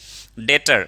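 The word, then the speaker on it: debt: डेटर means कर्जदार या लेनदार, जिन्होंने कर्ज लिया है उनको क्या बोलते हैं, डेटर। डेट मीन्स कर्ज, बी साइलेंट होता है बाबू।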